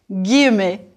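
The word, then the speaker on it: guillemets: dit en quotation marks en français on dit guemet prononcez s'il vous plaît gu W youve looked at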